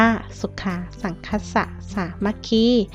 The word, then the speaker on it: สุขา สังฆัสสะ สามัคคี: คะ สุขา สังฆัสสะ สามัคคี คำ ที่ นัก เรียน เห็น อยู่ นี้ นะ คะ เป็น ภาษา บาลี นะ คะ แต่ อ่าน ว่า สุขา สังฆัสสะ สามัคคี ความ พร้อม เพียง ของ